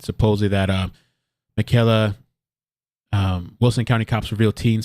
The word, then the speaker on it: Michaelle: screen here so uh I believe it's pronounced uh Michaela I'm gonna play it